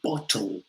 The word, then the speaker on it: bottle: ways of saying it in british english we tend not to say bottle we'll kind of swallow the the two t's bottle bottle the technical word is a glottal stop are you kind of